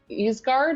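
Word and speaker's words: Ysgard: have been switched and uh isguard is how you pronounce it i mean there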